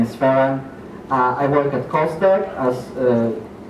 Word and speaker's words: Ferran: The name was actually pronounced quite okay. My name is Ferran.